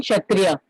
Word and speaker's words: Kshatriya: Yes, ma'am क्षत्रिया में ma'am के silent होगा हाँ, K is silent. K is silent. Okay, Kshatriya.